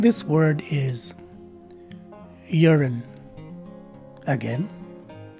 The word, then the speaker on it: urine: you will see that the stress is in the first syllable the letter u is replaced by a letter y and a sounding letter e the letter i takes a swa sound and the letter e at the end is a silent letter e so the correct